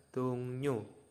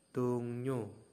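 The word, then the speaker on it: 동료: dengan rekan kerja ya tetapi membacanya adalah tungnyu tungnyu tungnyu ya ini adalah membacanya tungnyu tungnyu nah ini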